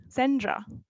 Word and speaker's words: Sendra: same same way so i was called sandra all my life in france and then i arrived in the uk and people actually started to pronounce my name correctly sandra thank you guys because